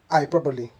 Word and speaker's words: hyperbole: They should be pronounced as epitome, epitome, and hyperbole, hyperbole. The E at the end is pronounced, making these words 4 syllables instead of 3.